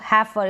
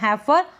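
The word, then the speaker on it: heifer: ए है क्या है ई आई का उच्चारण ए ए तो इस तरीके से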